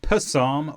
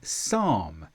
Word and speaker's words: psalm: P before S is a silent letter. So we don't say psalm, we say psalm.